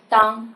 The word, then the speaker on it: 荡: 我们平常是把它念当，是不是当非常好。